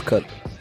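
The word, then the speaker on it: Qatar: of what cutter guar no it's cutter the way you pronounce it with a Q cutter okay trust me all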